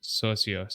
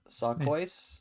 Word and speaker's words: Socios: to pronounce it now s s o c ios socios i think yes celcios is probably or like suck voice no it's socios that's better so you got some